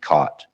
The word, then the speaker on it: CWT: move to to CWT COT. Jot and COT. I find if I pronounce them jot and cot for people that have never heard of them, they're like, "What? What are you talking about?